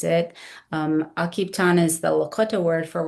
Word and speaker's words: Akiptan: And one question we always get is what does Akipan mean and how do you pronounce it? Um Akipan is the Lakota word for working together in a cooperative effort.